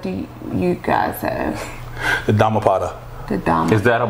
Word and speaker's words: Dhammapada: How you pronounce it again? The Dhammapada. The Dhammapada.